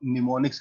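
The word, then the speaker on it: mnemonics: है alphanumeric symbols और निमोनिक्स कहते हैं इसको एम साइलेंट है ठीक है निमोनिक्स कोड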